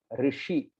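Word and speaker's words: ऋषि: And the word uh sha sha the the way we are pronouncing is ri. So the tongue goes a little backward. The tongue goes a little backward and we say rishi.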